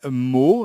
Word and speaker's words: Mauw: premier jeu qui s'appelle mots alors ça s'écrit m a u w mais vous pouvez aussi le prononcé à la manière des chats c'est à dire marc bonjour vincent alors on